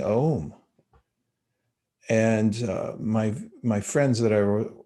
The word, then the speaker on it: Om: You see the figure here sitting in meditation, and this mantra is pronounced Om, and it's a seed mantra.